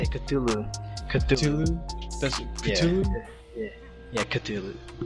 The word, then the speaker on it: Cthulhu: That's how you say Cthulhu.